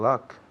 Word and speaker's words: luck: Wish them luck. Muy bien, very good. Wish them luck. Luck. La pronunciación luck se escribe L-U-C-K, L-U-C-K, pero esa U suena como si fuera una A.